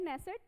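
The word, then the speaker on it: Knesset: speaker of द नेसेट medal किसे मिला है, यहाँ पे के होता है बट के साइलेंट होता है, नेसेट मेडल ये किसे मिला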